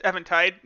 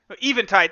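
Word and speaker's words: Eventide: Evan Tai shine let's or just Evan tide even tide that's right it's been so long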